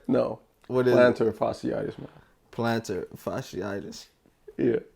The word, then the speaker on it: fasciitis: Fasciitis. Did I say it right? No. What is plantar fasciitis, man.